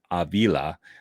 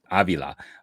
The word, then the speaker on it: Avila: Yeah, I also think, again, for me, when we were sitting there, when they added Pedro Avila, no, I said it wrong. Avila.